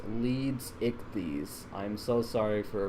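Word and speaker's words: Leedsichthys: all the support on the last video the lead 60s video it's one of my best best received projects to date so i'm really proud of that um sorry it is pronounced leads ichthys i am so sorry for mispronouncing it english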